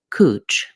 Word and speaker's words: couch: is called couch grass couch has vowel ow couch like the couch we sit on in Australia they pronounce this cooch grass instead of a they use oo cooch cooch grass now we've all